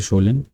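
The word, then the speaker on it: Kjølen: फिर यहाँ पे आपको शोलन माउंटेन्स मिल जाएंगे, ठीक है, जिनका प्रोनाउंसिएशन इस तरीके से शोलन।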